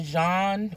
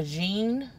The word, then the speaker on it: Jean: not mispronouncing his name it looks like it's pronounced about them either John or Jean and he was a